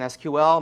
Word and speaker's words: SQL: The structured query language, if you've never heard the abbreviation SQL, most people pronounce it SQL, although I believe technically that is not correct, is a query language